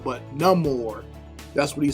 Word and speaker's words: Namor: character and they've even kind of changed the pronunciation of his name they call him not Neymar but no more that's what he says in a little preview